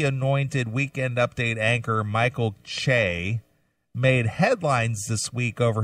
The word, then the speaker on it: Che: Saturday Night Live star Michael Che, I think that's how you say his name, C-H-E.